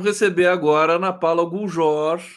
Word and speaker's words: Guljor: Vamos receber agora a Ana Paula Guljor. É assim que se pronuncia seu sobrenome, está correto? Guljor? Exatamente, É.